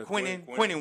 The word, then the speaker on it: Quinnen: And also Quinyon, am I saying it right? Yeah, Quinnen Williams.